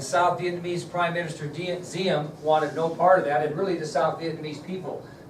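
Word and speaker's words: Diệm: and no d z although it's spelled dim it's actually zum no D zum was the leader of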